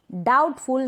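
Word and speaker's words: doubtful: डाउट, डाउटफुल, यहाँ पर B pronounce नहीं हो रहा है।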